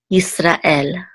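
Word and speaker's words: יִשְׂרָאֵל: And this is the accent mark right here, so we know that the accent is on the last syllable, el, Yisrael.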